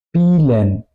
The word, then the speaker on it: Spielen: SCHP, como por ejemplo spielen, es decir, no digo spielen, digo spielen, ¿ok? Por eso se escribe un poco como, o no se escribe, suena como SCHP y luego IELEN. Spielen, Besprechung.